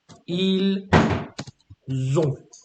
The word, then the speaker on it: ils ont: Nous avons, vous avez, ils ont. So notice the difference between they have and they are. So they are is ils sont avec the S sound, and ils ont avec the Z sound.